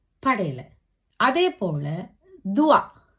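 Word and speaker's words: doigt: உச்சரிக்க படல அதே அதேபோல துவா தே ஓ ஈ ஜே தே துவா விரல் இங்க ஜே யும் தேயும் உச்சரிக்கப்படல துவா என்று தே என்ற சத்தம்தான் இருக்குது இதே நாங்கள் துவாவை தேய அழுத்தமாக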